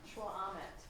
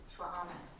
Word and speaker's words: šxʷʔam̓ət: Can't pronounce the word, but anybody be able to pronounce it? Shwa'amet. Shwa'amet.